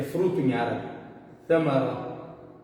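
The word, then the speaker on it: ثمرة: Tem gente que fala o que? Samara, ou seja, com S. Mas no original, no árabe original, a gente escreve ele dessa forma e pronuncia ele Ta. Não é Sa e não é Ta. É Ta. Para sair o que? Correto. A pronúncia correta no árabe o que? Original, no árabe clássico.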